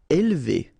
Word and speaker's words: élever: Élever. Alright, so don't pronounce this here. Élever, élever.